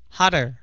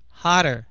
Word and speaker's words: hotter: Hotter hotter. H đừng có đọc là hot. Hotter. Ok. Mà là hot. Hot. Hter. Hest.